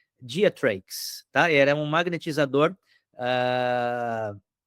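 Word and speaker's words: Greatrakes: perdoem a pronúncia, mas escreve Geatrax e provavelmente a gente diria diates, tá?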